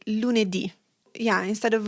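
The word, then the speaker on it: lunedì: And you'll notice also from the pronunciation and the written form that most days of the week end with an accented I.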